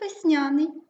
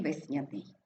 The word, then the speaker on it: весняний: весняний весняний виразний віджим слово з подвійним наголосом якраз є б можемо говорити як весняний так і весняний наступне завдання визначити слово